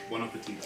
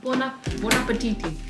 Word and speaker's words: buon appetito: Buon appetito. Oh, buon appetiti.